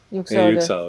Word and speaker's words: 6/45: I don’t remember whether it was this year or last year, but it’s the movie 6/45 (pronounced 'Yuk-sa-oh'). 6/45 was pretty funny.